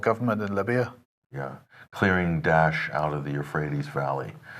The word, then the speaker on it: Daesh: There's Daesh, which is more accurate. That's the Arabic one. Then there's, I think, David Cameron, Dash, and then there's Dash, and then there's Obama, which is Dash.